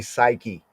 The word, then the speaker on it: psyche: The old way of pronouncing the word suke, the later day Oxfordian way of pronouncing suke, right? Suke is like the old Greek suke, right? Modern times we say psyche.